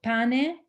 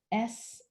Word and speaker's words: pane sciocco: I will spell it out. It's called pane sciocco. So pane, P-A-N-E, which is bread in Italian, pane. And then another word, S-C-I-O-C-C-O, S-C-I-O-C-C-O, sciocco is stupid.